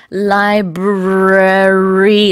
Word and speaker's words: library: I remember as a kid, I had a hard time pronouncing this word when I first saw it. Me too. It's library. It's a very difficult word for a kid to learn. 2 R's in a row.